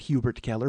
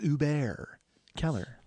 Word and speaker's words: Hubert Keller: owned by our friend Uber Keller uh you don't pronounce the h friends it's not Hubert Keller back off it's Uber Keller and I've actually watched